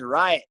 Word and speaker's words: Riot: His name's Riot. His name's what? Riot. Right? Riot. Like a riot. R-I-O-T.